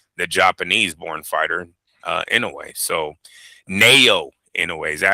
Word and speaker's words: Naoya: So Naoya Inoue, is that how you say his first name?